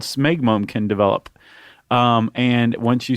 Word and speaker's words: smegma: Smegma. Because the last thing I want is listener mail on the pronunciation of smegma. We get all these voice files. Although I've always said schmegma, but I think...